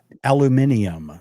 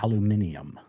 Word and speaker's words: aluminium: Aluminium. That's how they pronounce it in Australia. Aluminium.